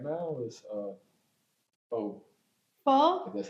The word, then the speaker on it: pho: Pho?